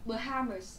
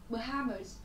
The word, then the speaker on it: Bahamas: Rồi, cô giáo muốn nhấn mạnh một chút trọng âm của từ này nhé. Bahamas, ok? Bahamas.